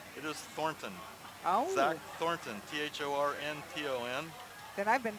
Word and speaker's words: Thornton: Oh, Zach Thornton, Thornton.